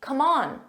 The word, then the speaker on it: come on: come on come on notice the pronunciation in the abbreviated form which is very common in spoken English English or in a text message in informal English come on C so instead of saying come I'm saying C come on repeat after me come